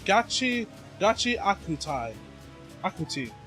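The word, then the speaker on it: Gachiakuta: Akuti, not Akutai.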